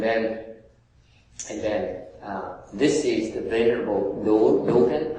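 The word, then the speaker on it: Dōgen: Okay, and then this is the venerable Dogen. How do you say that in English? I'm not sure. Is Dogen or Dogen? Is someone teaching me, please? If I pronounce it wrong, please forgive me.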